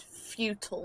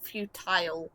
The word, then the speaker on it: futile: It bothers me to hear it said futile, not futile, because futile is how it's kind of meant to be pronounced.